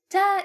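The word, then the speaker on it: تاء: Ta is pronounced like the T in English. Ta ta just like ba.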